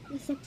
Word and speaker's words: receipt: face, rice, mice, circle, cinema, receipt, Silent P.